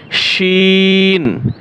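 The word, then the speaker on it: شين: শিন, শিন এটা হচ্ছে সি, আর হচ্ছে শি।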